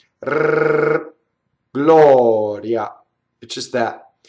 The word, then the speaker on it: gloria: la here you are Gloria so now we have in this word we have an open oh and then we have a semi vowel right so the AI is there but it goes by so